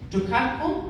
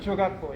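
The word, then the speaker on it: jogakbo: This heart will be covered in Jukatpo. Am I pronouncing that right, Mr. Choi? Chogatpo, yeah.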